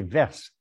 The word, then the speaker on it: Verse: dans le village qui s'appelle verse il faut prononcer verse et les deux fois